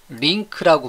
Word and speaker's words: LINQ: 링크, LINQ, Language Integrated Query의 약자로서 링크라고 발음하는데요.